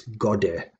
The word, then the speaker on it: gode: And can I just say here, that word is not gode, it's gode, meaning God himself. It's in the genitive, referring to God. Selvum indicating himself, God himself. So just a slight mispronunciation there, that should be gode.